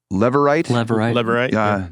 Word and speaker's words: Levirate: There's a law in Israel, I never say it right, but the Levirate marriage law. I say it right now. That's good. The Levirate marriage law, which said if the firstborn son